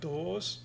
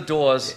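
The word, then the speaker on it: Dawes: And of bands writing their own stuff, I like Doors, except I don't say it right. When I say it, it sounds like The Doors.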